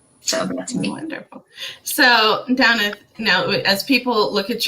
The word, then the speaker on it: Damhnait: My name is Damhnait, spelled weird, pronounced Damhnait.